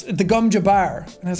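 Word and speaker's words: gom jabbar: movie i got to hear how everything was pronounced properly like the gum i kept calling it the gum jabber which is the the needle up to the neck and it's the gumja bar and i was like oh that makes a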